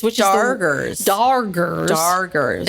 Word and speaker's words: Darger: Um, so before we go on our plation, as they called it, with the doggers, which are doggers. Dargers. It's the weirdest name because you think that they're mispronouncing it, but they're not.